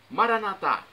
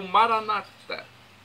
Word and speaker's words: Maranata: dialeto de Jesus Cristo, eu clamo, Maranatá, como dizemos nós católicos, ou Maranata, como dizem os nossos irmãos separados, os evangélicos ou protestantes. Não importa a pronúncia, o significado é o mesmo.